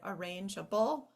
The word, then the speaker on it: arrangeable: reasons for that silent the only reason for the silent e in the word arrangeable is to make the G say J and if we dropped it it would say arable so that's one where